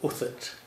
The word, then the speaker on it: Huthwaite: Is that what led you to Huthwaite then? Well, yes. Huthwaite, isn't that an interesting name? People have great difficulty pronouncing it. Uthert is the way that it's pronounced in Yorkshire. Uthert.